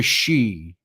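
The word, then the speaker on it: sidhe: also called the she it's spelled s-i-d-h-e the she as it's pronounced in Gaelic um and the she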